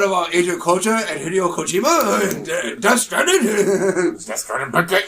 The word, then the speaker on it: Hideo Kojima: Yeah, Hideo Kojima. Oh. bam, nailed it. Look at that. Sounded shit. like you butchered it, but alright.